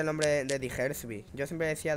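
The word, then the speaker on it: Diggersby: ¿Cómo se pronuncia el nombre de Digersby? Yo siempre decía Daggersby.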